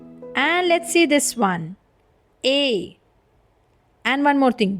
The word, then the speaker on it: et: And let's see this one, A. And one more thing, do not pronounce it like it, okay? It is A.